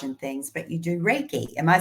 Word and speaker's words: Reiki: facials and massage and things, but you do Reiki. Am I saying that right?